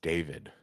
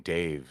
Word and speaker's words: David: know when I when I say my name is is David you know you saying Dave just you know I I pronounce the extra syllable for a reason and just the concept